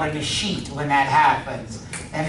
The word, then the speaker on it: escheat: That's called an escheat when that happens. And it's spelled E-S-cheat, C-H-E-A-T.